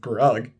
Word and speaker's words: Grug: Hug rhymes with grug.